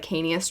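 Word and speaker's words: Licanius: series would be the I believe it's pronounced lanus Trilogy the first one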